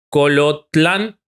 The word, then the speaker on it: Colotlán: Eusebio nace en Colotlán, si lo pronuncié mal, pido disculpas, Jalisco, lo dijiste bien.